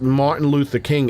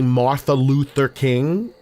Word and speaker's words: Martin Luther King: For me to say Martha Luther King, that's it takes effort. My there's too much muscular uh transitions to do that. Martin Luther King flows. Martha Luther King does not flow.